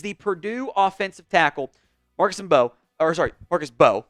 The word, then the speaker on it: Mbow: First up is the Purdue offensive tackle, Marcus Mbow, my bad, the M is silent, who is, I think, is an underrated player right now.